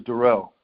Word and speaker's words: Darrell: name again to properly my name is Darrell Darrell alright okay so yes Darrell I mean I I'm accentuating to a but year it's it's